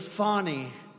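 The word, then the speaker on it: Fani: it fonny it's called Fanny you have to pronounce fonny I don't know how she get she should add a little u in there someplace if she wants people to call her now her and her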